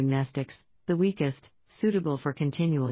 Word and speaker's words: Mnestics: Mnestics, Class W, X, Y and Z, same Greek root as the word mnemonic. The M is silent.